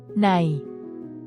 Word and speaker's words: ใน: ใน This is a preposition that translates to in or inside, is pronounced with a mid-tone. It's a straightforward, level sound without any rise or fall in pitch throughout its duration.